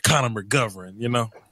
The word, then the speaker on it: McGovern: Connor McGovern, So it sounds like McGregor, Conor McGregor.